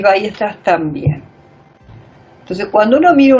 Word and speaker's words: Weierstrass: Para pronunciarlo así, Weierstrass.